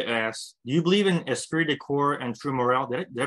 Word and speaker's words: esprit de corps: Angela asks, do you believe in esprit de corps and true morale? Did I pronounce that right?